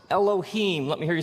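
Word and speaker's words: אלהים: it would look something like this and it's pronounced Elohim let me hear you say Elohim in the beginning Elohim created the heavens and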